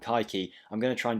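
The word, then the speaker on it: Kayky: brazilian divisions it is kaiki it might be pronounced cakey but i looked online and it looks like it's pronounced kaiki i'm going to try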